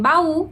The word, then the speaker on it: baú: Número 5, a gente tem acento, então em baú, a sílaba tônica é o U.